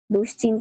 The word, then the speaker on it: দুশ্চিন্তা: উচ্চারণ তালবস থাকার কারণে দুশ্চিন্তার তার মধ্যে তালবয় সয়চছ থাকার কারণে বা তালবস থাকার কারণে এর ধ্বনিটা আসবে বিসর্গের মত। যেমন দুশ্চিন্তা দুশ্চিন্তা ওই যে বিসর্গের ব্যবহারটা আমরা শিখেছিলাম গত ক্লাসে।